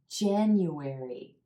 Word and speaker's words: January: with January January now there's four syllables in this word and you want to make sure you're pronouncing each syllable January the emphasis is on the first syllable and the add as in black sound that means that this